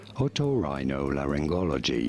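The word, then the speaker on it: otorhinolaryngology: tuned in subcribers how do you go about pronouncing it in British English this is said as otorhinolaringology oh of course of course of course of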